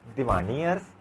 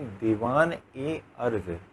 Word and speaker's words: दीवान ए अर्ज: दीवानी अर्ज, दीवानी अर्ज नहीं, दीवान ए अर्ज।